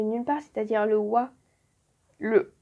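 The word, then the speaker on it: は: Hop, là il y a un exercice. Et ensuite on passe au H. Alors, le A ne se prononce pas A, il va se prononcer wa.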